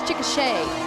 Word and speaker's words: Chickasha: I went to Oklahoma for college, and they spell it like that, but it's Chickasha instead of Chickasaw.